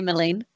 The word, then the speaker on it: Mithranor: I'm going to say Mithranor. That's what it's called now. Anyone who says otherwise is officially wrong.